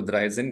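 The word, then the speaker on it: dreizehn: कहते हैं हम ड्राई तो ड्राई प्लस जन सो it will become द्रा Sen okay so 13 को द्रा जन कहते हैं वैसे 14 को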